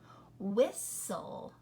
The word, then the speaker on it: whistle: Castle, whistle.